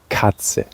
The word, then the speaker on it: Katze: Cat is Katze. It's spelled K-A-T-Z-E.